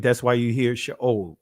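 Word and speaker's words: שאול: And then this is the Israeli pronunciation, Sheol, right? So this is the colon, right? So that makes the O sound. This is what is called the Shava. So it'd be Sheol, right?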